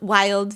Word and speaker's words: Vvild: He also made um an electronic cigarette brand called Vvild, wild, v v i l d.